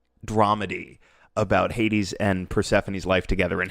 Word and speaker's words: Hades: Because Hades rhymes with gives these.